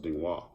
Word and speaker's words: Ding Hao: It's pronounced Dingwa. And it means good luck. And I was like, oh, okay. So there you go. All my life I've been saying it wrong.